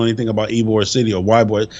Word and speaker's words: Ybor: So if you guys don't know anything about Ybor City, or Ybor, it's spelled, I think, YBOR, but they call it Ybor.